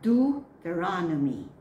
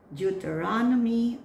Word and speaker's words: Deuteronomy: It can be Jew or Deuteronomy. Deuteronomy or Deuteronomy.